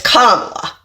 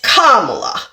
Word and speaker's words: Kamala: show up with racism and misogynoir by not pronouncing the vice president's name correctly. It's Kamala. It's Kamala.